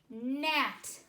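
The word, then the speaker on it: gnat: a c k knapsack next word net g n8 e silent G last word wristband WR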